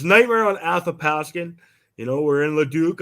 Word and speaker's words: Athapaskan: your your name please Nightmare on a aath Askin see I told you Christopher that's how you say it I don't hey he was having problems with it yeah it's Nightmare on aop pasin you know we're in